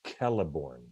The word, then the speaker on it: Celeborn: a lot of a's it's pronounced kelliborn caliber sorry god all